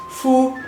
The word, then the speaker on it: 父: and according to anology book the man being pronounced Fu and the father fu is no coincidence they